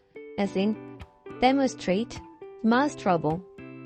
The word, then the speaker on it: demonstrable: To complicate things further, able may also shift the stress one syllable to the right, as in demonstrate, demonstrable.